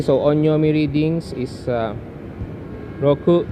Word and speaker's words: 六: number six okay so onomi readings is uh Roku Riku and then these are the onomi readings written